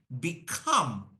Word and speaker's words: become: what is Rule two rule two says any word with two syllables if the word is a verb verb that was noun adjective this is verb in verb put pressure on the second syllable okay so repeat after